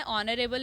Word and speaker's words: honorable: ऑनरेबल is starting with the consonant letter, but the sound is ऑनरेबल. एच is silent hair, that's why we need to यूज़ an instead of ए. इसलिए हमें एन का यूज़ करना होगा ए की जगह. ऑनरेबल एक vowel sound word है, एच की यहाँ पर कोई साउंड नहीं है, एच साइलेंट है इसलिए.